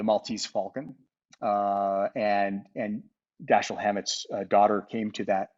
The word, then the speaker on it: Dashiell: after your father and she said how do you pronounce it and i was like daschle and she's like ah yeah he pronounced it dashiel i was like now we're going with daschle sorry but but you